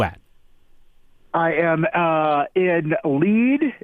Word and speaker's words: Lead: where are you at I am uh in lead it's spelled lead that's one thing we learned here that it is actually pronounced lead we're in Lead South Dakota uh family got